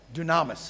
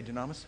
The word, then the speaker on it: dunamis: the energy the power Dunamis is a word in Greek that means yes Dunamis yeah did I say Dunamis put the accent on the wrong syllable or me Oh anyway that's